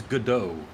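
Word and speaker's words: Godot: it is pronounced gdau sounds like French or something they should down to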